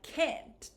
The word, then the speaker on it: can't: But when I say can't, this vowel sound is more produced. Now look at my upper lip. I can't. I can't help you today. I can help you. I can't help you, right? So with the pronunciation, sometimes when Americans speak quickly, that might be difficult to tell between. A lot of my students try to look at or pay attention to the T ending.